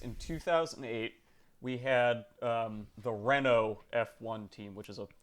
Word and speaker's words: Renault: so basically what happened was in 2008 we had the Renault F1 team, which is a French Everybody knows team. them. It's spelled with a T at the end, but you don't pronounce it.